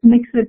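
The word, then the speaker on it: Mxit: I just saw someone asked what is it called, and it's Mixit, it's spelled M-X-I-T, and it was a platform developed in South Africa specifically to address low-end feature phones and cheap messaging.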